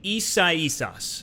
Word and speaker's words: Isaias: And, you know, maybe this was a blessing in disguise because we just had Hurricane Isaias, and I believe I said that right.